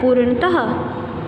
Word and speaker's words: पूर्णतः: उसके बाद है पूर्णतः, पूर्णतः, पूर्णतः, ठीक है, पूर्णतः। हम बिल्कुल इसको उच्चारण ऐसे नहीं करेंगे कि ह ही बोल दिया लास्ट में, पूर्णतः थोड़ा सा ह की आवाज़ आएगी, थोड़ा सी ह